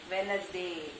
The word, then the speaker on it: Wednesday: By pronouncing Wednesday, D is not coming. Wednesday, then sandwich.